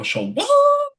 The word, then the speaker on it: Shawon: First name is spelled Shawon. So Siobhan. whenever we bring him up, we always go Shawon.